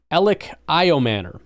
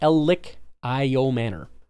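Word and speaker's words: Elic Ayomanor: Ellioman is officially how you say his name. Thank you uh for confirming that. Elic Io Manor.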